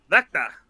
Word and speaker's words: Wechter: It's a German last name, so it's kind of difficult. But the easy way to say it is Wechter. But I think Wechter. you're actually supposed to say it like Vecta.